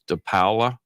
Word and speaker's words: Paola: I um you know I pronounce it toola but I guess the Italian real way is toala toala is PA yeah no p a o is supposed to be pow po yeah pow po yeah when